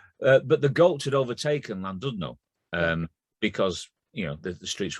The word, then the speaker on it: Llandudno: Early on in lockdown, it said that in Llandudno, which is pronounced Llandudno, but I didn't know that at that time, which is a poem in itself.